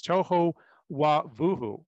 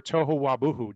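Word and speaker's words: תֹהוּ וָבֹהוּ: It's, and I'm going to try to pronounce this correctly. It's tohu wabuhu, or tohu wabuhu, depending on who's pronunciation you prefer.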